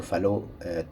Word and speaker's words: Fallot: it in english but we say tetralogy of fallow because fallow was a french physician so it's a pro a proper pronunciation is fellow so the trilogy of